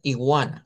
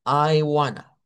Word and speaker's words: iguana: en la number se me leyeron en español, me leyeron iguana, así como que fuera i y es Iana. Iana tiene que ser esa i como lar.